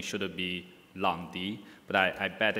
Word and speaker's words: Lang Di: long be in Chinese pronunciation actually the correct pronunciation should it be long d but I bet it's a little bit of